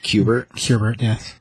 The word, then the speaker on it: Kubert: Kubert, yes. That's the right way to say it.